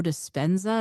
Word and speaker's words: Dispenza: mentioned uh the the the meditations for Joe dispenza is that how you say his name yes